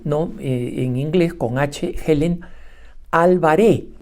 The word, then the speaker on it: Alvaré: en inglés con Helen alvaré todos los norteamericanos pronuncian Álvarez pero su apellido es con un acento en la e y sin seta final O sea no es Álvarez cualquiera de ustedes que